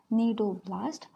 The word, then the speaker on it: cnidoblast: Here C is silent. Cnidoblast, or it is also called as cnidocyst. Repeat with me how to pronounce cnidoblast or cnidocyst.